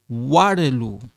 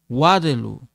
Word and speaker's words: Waterloo: Kevin est de Waterloo. Waterloo. Waterloo. You know, like when you say water, water, water, Waterloo.